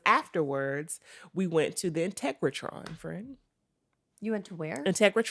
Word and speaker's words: Integratron: It ain't called Integratron. You think it's called integration?